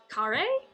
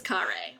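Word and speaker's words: Kharé: thing on it does it go is it Curry is that how that e is pronounced there's nothing but vicious in the Wasteland you'll have no one to trust in the days ahead it is Kare okay we're off to Curry at least we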